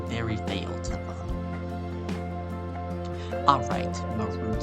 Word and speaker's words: Marud: That's how you say it, Marud. M-A-R-U-D, Marud. Like, you're rude.